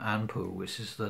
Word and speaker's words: Anpu: rite, to the name Anpu, which is the name you would pronounce, the way you would pronounce the name Anubis within the Egyptian language.